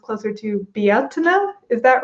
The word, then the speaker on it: Beltane: pronounce anything wrong and that tends to be the way that we say it here in the states so even though i know it's pronounced closer to biatena is that right um